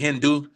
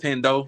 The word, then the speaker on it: Hendo: Everybody call it Hindu, but it's Hendo.